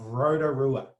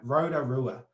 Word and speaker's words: Rotorua: of tea, then there's another way to make this sound, which is your most New Zealand English pronunciation of Rotorua. All right, Rotorua. That Roda, ra, ra, ra, that is a perfect native Māori ra.